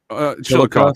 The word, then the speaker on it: Chillicothe: You know, they said that that is legitimately where Chillicothe, isn't that how it's pronounced? Chillicothe? Chillicothe, sir.